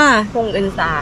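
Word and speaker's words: 봉은사: ต้อง ไป ลง ที่ สถานี นี่ อ่าน ว่า พงอึนซา ค่ะ พงอึนซา ช่อง ที่ 9 ซึ่ง เขา ชี้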